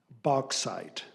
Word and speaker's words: bauxite: Bauxite. Bauxite. Alternate pronunciation, bauxite.